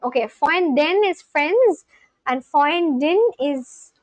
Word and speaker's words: Freund: Freundin. Freundin. Okay, Freundin is friends and Freundin is girlfriend and boyfriend is Freund. Freund. Freund. Freund. Oh, you do pronounce the R.